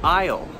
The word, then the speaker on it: aisle: Another one would be aisle. A-I-S-L-E. I, apostrophe, L-L, like I will, right? And I-S-L-E. Those three have exactly the same pronunciation, different spelling.